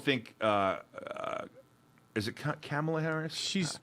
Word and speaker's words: Kamala: have to know her name you're reporting here kamala kamala kamala i do think kamala is very